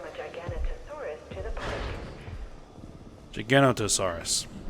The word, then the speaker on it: Giganotosaurus: Giganotosaurus. Missing a syllable in there.